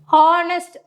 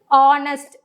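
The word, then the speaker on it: honest: ஹானஸ்ட், hour அப்படின்னு நம்ம சொல்லக்கூடாது. தட் இஸ் ஆனஸ்ட், ஹார் அப்படி தான் நம்ம ப்ரொனவுன்ஸ் பண்ணும்போது அது நம்மளுக்கு என்ன சவுண்டில் வருது?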